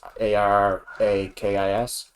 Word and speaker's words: Arrakis: But it's not spelled like arachnid. It's Arakis.